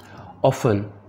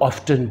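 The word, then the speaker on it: often: ऑफन अक्सर, T silent है, जबकि इसको ऑफ्टन भी पढ़ा जाता है। ऑफन एंड ऑफ्टन दोनों तरह से ये दुरुस्त है।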